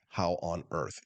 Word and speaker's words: Haworth: Looks like Haworth, but it's pronounced like how on earth.